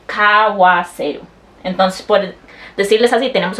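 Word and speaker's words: 買わせる: Ese que termina en U no se dice kaaseru. Eso no se dice, se dice kawaseru.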